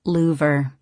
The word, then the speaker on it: Louvre: He pronounces it Louvre, as in shutters.